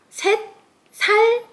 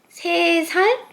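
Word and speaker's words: 세 살: set changes to se When this native Korean number three combine with the unit the letter set sound changes to se. So, here also the complete answer is chonun sumul se sal ieyo That's it.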